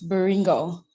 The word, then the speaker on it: Baringo: Baringo, am I pronouncing your name correctly? Yes, Baringo.